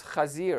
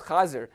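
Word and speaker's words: חזיר: Now, the word for pig in Yiddish is chazir, it's chazir. And this is spelled like the Hebrew that it comes from.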